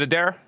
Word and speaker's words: Adair: Is it Adair? Yeah, that's right. All right, good. Okay, I haven't been pronouncing it wrong the whole time.